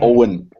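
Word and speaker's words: Eoin: It's pronounced Owen. Sorry, I've seen it. I know people that have pronounced it Ewan. Sorry, but Owen. It's spelled differently if it's pronounced Ewan. It's like the Scottish version.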